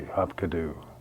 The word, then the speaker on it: Hapkido: And I'm thinking to myself, Hapkido, what could that possibly be, Hapkido? Later I found out that the way you pronounce it is Hapkido.